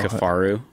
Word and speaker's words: Kifaru: How do you say Kafaru? Kafaru. How do you spell that?